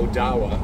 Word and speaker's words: Odawa: Ottawa uh excuse me which are chipa uh Odawa which is Ottawa and then uh badami is actually the pronunciation instead of Kwa and uh some Miami